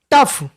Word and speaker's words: tough: Next word हमारा टफ, TOUGH, TOUGH, confuse मत होइएगा, TOUGH, टफ।